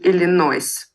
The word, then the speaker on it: Illinois: He lives in Illinois. Они только «с» не произносят.